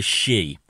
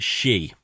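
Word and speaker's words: sidhe: which is called the she, S-I-D-H-E. That's how it's spelled, and it's pronounced she.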